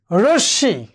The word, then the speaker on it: রশ্মি: এরপর দেখো, যদি আবার এই মফলাটি পদের মধ্যে বা অন্তে থাকে, সেক্ষেত্রে একই অবস্থা, মূল বর্ণটির উচ্চারণ কি হবে? দ্বিত্ব হবে। ধরো ভস্য, দ্বিত্ব হয়েছে। রশ্মি, দ্বিত্ব হয়েছে।